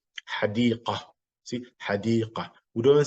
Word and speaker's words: حديقة: So when the Ta Marbota is your stop, the pronunciation is similar to the ha. مثل, such as, or like, حديقة. See, حديقة.